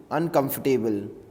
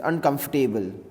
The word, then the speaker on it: uncomfortable: l e uncomfort table uncomfortable then r is not pronounced when you speak this word in haste it's uncomfortable i hope you are